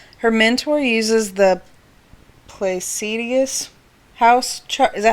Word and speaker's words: Placidus: Okay, so one of the viewers said her mentor uses the Placidius house chart. Is that how you pronounce that? Placidus.